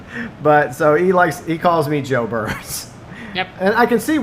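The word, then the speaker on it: Geaux Burns: And so, Professional, tell him the way he pronounces my name. Joe Burns. Yeah, Joe Burns. Like J-O-E.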